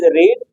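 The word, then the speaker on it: read: ऑफ बब तो इ रीड वट इ the third फम ऑ रीड रेड एंड the spelling ऑफ रेड the same S रीड है ना बुक इज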